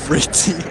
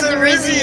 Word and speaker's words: Ritzy: How do you say Ritzy? It's literally Rizzy. It's Ritzy. Oh, it's Rizzy? Okay, Ritzy. He said Rizzy. It's not Rizzy. I thought that T was his.